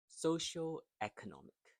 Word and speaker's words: socioeconomic: So the e is the stress syllable in this long word.